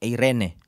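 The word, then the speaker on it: εἰρήνη: ini atau ada the kalau baca bahasa Yunani kuno dibaca Irene tapi bahasa Yunani perjanjian baru bacanya ada cara baca yang lain Irene jadi ada orang banyak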